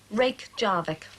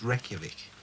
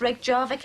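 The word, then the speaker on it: Reykjavík: the capital of iceland reykjavik nearly that's right rake jarvik reykjavik it's pronounced reykjavik well reykjavik in english reg jarvik and icelandic right reykjavik murray it's pronounced reykjavik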